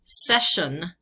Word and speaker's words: session: So CI, SI, TI, all this week have the sh sound to them.